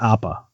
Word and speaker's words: Appa: Is it Appa?